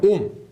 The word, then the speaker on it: 옴: 오메가 읽은 게 아니고 옴이라고 읽습니다.